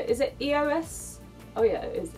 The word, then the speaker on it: EOS: Is it EOS? Oh yeah, it is EOS.